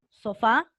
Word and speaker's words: sofá: siguiente con tilde sofá escriban sofá fuerza de voz en la fa en la última lleva tilde en la a café también café fuerza